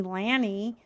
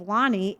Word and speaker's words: Lonnie: I mean, if somebody was calling me Lanny instead of Lonnie, it would drive me crazy.